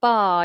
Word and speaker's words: bar: one later okay so bar you'll notice I'm not pronouncing the r and I removed the letter R from the phonetics bar that's how we pronounce it British English is non